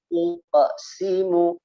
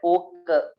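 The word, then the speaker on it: أقسم: La uqsimu, tebelin ya, qalqalahnya ditebelin, nggak boleh uke, nggak boleh uke, jadi ya uko, jangan uke, bukan tebel, sambil diikuti ya.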